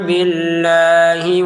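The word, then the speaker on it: بِاللَّهِ: Billahi, hinya pendek. Jangan panjang. Billahi wa, nah pendek saja ini. Billahi wa bil, ya.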